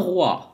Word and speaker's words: roi: لاحظوا إذن إن أو مع إي تلفظ و.